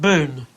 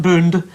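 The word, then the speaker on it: Boone: one what about uh how would you pronounce Pat Boon Pat Boon just about right boon with an n b o n e Boon Boon Boon Boon Boon yeah Bo Boon yeah not D not boond bo bo that's right Pat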